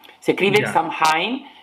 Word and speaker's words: Samhain: de, como tú dijiste, Samhain. Se escribe Ya. Samhain, pero hasta donde tengo entendido en gaélico se dice Samhain, que es uno de los idiomas más extraños que conozco en cuanto a escritura.